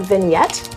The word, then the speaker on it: vignette: Is that vignette? Vignette, yes. Sorry. I don't know how to pronounce vignette. Not how it's spelled.